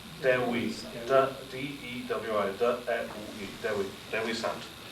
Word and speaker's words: Dewi: In the Welsh, Dewi. Dewi. D-E-W-I.